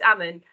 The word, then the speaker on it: Aman: Aman, is that how I pronounce it? I'm rubbish at pronunciation, I hope so. You're nearly there, Simon, it's Aman.